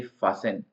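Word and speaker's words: fasten: नहीं बोलता है क्रिस्मस बोलते हैं वैसे ही फसन फ का मतलब होता है कसना किसी चीज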